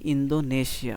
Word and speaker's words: Indonesia: A email from ইন্দোনেশিয়া এটাকে আমরা বলি ইন্দোনেশিয়া আসলে এটার সঠিক উচ্চারণ হছে ইন্দোনেশিয়া ওকেও পয়েন্টও এ কি